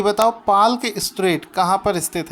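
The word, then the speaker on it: Palk Strait: जाता है कि बताओ पाल के स्ट्रेट कहां पर स्थित है वैसे तो इसको पार्क बोलते हैं क्योंकि इसमें साइलेंट होता है तो यह जो पाल्क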